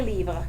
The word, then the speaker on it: livres: We add an S in the writing, but it doesn't get pronounced.